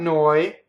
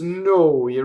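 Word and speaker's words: noi: is slowly no we so it's not no I doesn't rhyme with boy it's Noah runs with David Bowie right without the strong w siamo siamo we are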